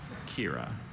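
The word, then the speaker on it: quira: Are there any alternate pronunciations? Just the one. Kira.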